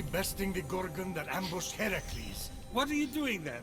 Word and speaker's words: Heracles: phoenix after boldly besting the gorgon that ambush heracles what are you doing there that thing with